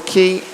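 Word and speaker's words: Quy: Officially in fifth, Jenny Vic and Laura Key. I think that's how you pronounce her name. Q U Y key and it's going to be 600 down, 200 to swim for Laura and Karen.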